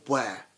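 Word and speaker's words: Ware: small town near London called where yes really it is called where that's how you pronounce it no way and it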